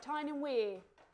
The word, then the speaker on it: Tyne and Wear: Tyne and Wear?